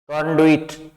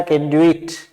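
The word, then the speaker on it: conduit: अब इसके दो प्रोनाउंसिएशन है। कंडुइट, ये ओ की साउंड है इसमें दी हुई है। कंडुइट, वे के साथ में ई की मात्रा है। एक दूसरा है कंडुइट। कंडुइट यू भी आता है इसमें, तो कंडुइट या कंडुइट दोनों हैं।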